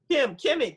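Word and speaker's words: Kemi: Was it Tim or Kim? Kimmy, K-E-M-I. Kimmy Hey, how's it.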